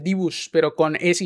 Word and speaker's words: Dibu: Eh, DB literalmente se pronuncia así. Divus como el Divu Martínez. Incluso a mí me parecía raro cuando el el redactor argentino decía el el dibus, pero es que literalmente es el dibus, pero con ese y Z.